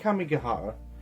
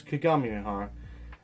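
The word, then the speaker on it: Kagamihara: I keep calling it Kamigahara, but it's not. It's Kagami Mihara.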